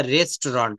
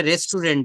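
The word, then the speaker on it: restaurant: Where is দা রেস্টুরন্ট? আমরা এটা রেস্টুরেন্ট বলি। কিন্তু সঠিক উচ্চারণটা হবে রেস্টুরন্ট। কি বলতে হবে বলেন?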